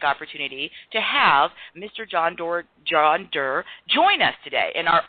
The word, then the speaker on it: Derr: The person who's we're going to be learning from is named John Derr. That's John Derr, and Derr is spelled D-E-R-R.